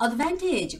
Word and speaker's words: advantage: 어, advantage. 광세가 되게 중요하죠, 광민님. 광빈님이네요. 그래서 advantage 같은 경우는 VAN의 강세 있어요.